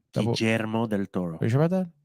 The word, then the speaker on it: Guillermo del Toro: Because when I was in Spanish class in high school, yeah, I was taught that the double L's are pronounced like a Y, like me llamo.